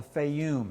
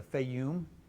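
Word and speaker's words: Fayum: to the West into a place called The feyum it's spelled several different ways but like f-a-y-u-m the feyum sort of a spade-shaped green spot you can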